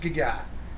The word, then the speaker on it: Gaga: Yeah, it's pronounced Gaga. If you were a fan, you'd know. Okay, don't.